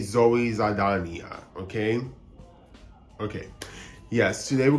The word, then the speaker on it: Saldaña: going to, I guess, pronounce her name in the Spanish way versus the English way. People usually say Zoe Saldana in English, but just to be correct, I'm gonna say Zoe Saldana, okay?